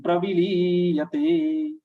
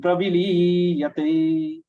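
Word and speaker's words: प्रविलीयते: Here, praviliyate, many people are mistaking with the short and long sound of V and Li. They will definitely make it ulta. Praviliyate, they will be pronouncing V dirgha and Li raswa.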